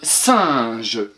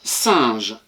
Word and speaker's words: singe: Et attention pour je te rappelle que le G devant le E se prononce J devant E, I et Y et qu'il se prononce G devant A, O, U.